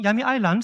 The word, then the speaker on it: Yami Island: like there, and also Yami Island is a right pronunciation, Yami Island, so in the northern